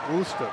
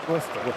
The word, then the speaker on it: Worcester: Worster, right? Worcester. Worster.